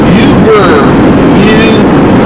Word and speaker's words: Ubirr: So we're in Kakadu National Park, and we're on the way to some rock called Ubirr. It's spelled U-B-I-R-R.